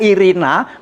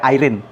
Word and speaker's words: Irina: Di sana membaca tulisannya Irina, membacanya Irina juga. Tidak seperti di Inggris dibaca Irene, tidak begitu, Irina.